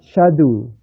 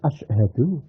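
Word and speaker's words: أشهد: begini membacanya Ashadu Alla asadu asadu Alla ilahaillallahadu ohoh padahal Ashadu as hau ashu Kok dibaca Sadu menghilangi hamzahnya Ashadu Hamzah mudharaah menghilangi haknya Ashadu Sadu Wah itu gak boleh itu seperti itu syadu syadu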